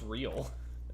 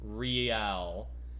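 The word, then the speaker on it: réal: What's real? Oh, excuse me. You owe me 130 real. He pronounces the R with a mock aristocratic accent.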